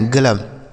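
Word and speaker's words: glove: जी एल ओ वी E spelling ध्यान रखिएगा। इसे ग्लोब नहीं पढ़ा जाएगा। ग्लव पढ़ा जाएगा। ठीक है? ग्लव। देखने में लग रहा है कि ये लिखा गया ग्लोब। लेकिन इसे ग्लोब नहीं ग्लव पढ़ा जाएगा।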